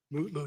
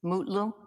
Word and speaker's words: Mutlu: Is it Metloo or Mutloo or how do you pronounce his last name? Mutloo, your honor. Mutlu.